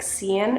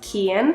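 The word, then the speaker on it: Cian: a friend in Vietnam whose name was spelled c i a an and I always was like what is that name I was calling him like Cen or something but it was pronounced Ken so I'm going to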